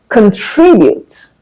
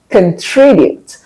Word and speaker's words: contribute: Words like contribute. Contribute. A lot of people around me will say contribute or contribute. That's wrong.